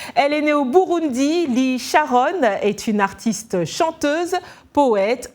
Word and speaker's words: Lee Charon: Bonjour Lee Sharon, hein, j'ai bien prononcé ça?